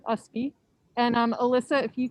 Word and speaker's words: Ustby: there he is um which pronunciation just forget the t so it's just usb and um alyssa if